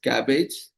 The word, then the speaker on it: CABG: Bypass surgery also known as coronary artery bypass graft surgery or cabb or pronounced as cabbage.